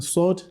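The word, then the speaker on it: ص: You can see it has similarity with letter sin, but they are still different, okay? Sin is different from sword. Okay, you can see sword it comes out heavily because while pronouncing sword, the back of your tongue rises up, whereas in that of sin, it doesn't do so.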